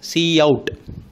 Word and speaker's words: cout: First operand is the predefined identifier pronounced as Cout. Pronounced as Cout, that identifies that monitor as the standard output object.